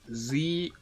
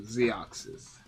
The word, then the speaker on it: Zxous: Zxous. So, Z, and then ox, like what you have in the car, and then sis, like SIS. So, Zxous.